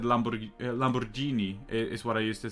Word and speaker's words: Lamborghini: It's like in the beginning when I said Lamborghini is what I used to say, and now I say Lamborghini like you're supposed to.